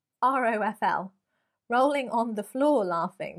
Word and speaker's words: ROFL: Ruffle? Could you say it like that? Probably not. R-O-F-L.